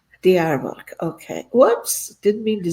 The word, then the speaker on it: Diyarbakır: Can you pronounce this for me, Sidar? Because I don't want to ruin it. Diyarbakır. Diyarbakır.